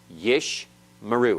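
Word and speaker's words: יִשְׁמְרוּ: back to back and you cannot have two vocal choir's back to back so the first one is silent closing the first syllable yeesh yeesh and the second one is vocal opening the next syllable yeesh meroux yesh maru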